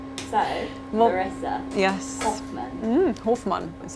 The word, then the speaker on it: Hofmann: Hofmann is how you say, Larissa Hofmann.